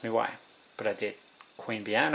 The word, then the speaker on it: Queanbeyan: Queen Bee Anne. I live near Queanbeyan, but it's spelled a bit differently.